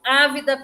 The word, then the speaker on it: ávida: Primeira sugestão é com sede e no segundo, ávida pelo resultado. Ávida pelo resultado. Tem acento no A, tá? Acento agudo no... Com sede e ávida pelo resultado. Ávida é uma proparoxítona, tá? Recebe acento na antepenúltima sílaba.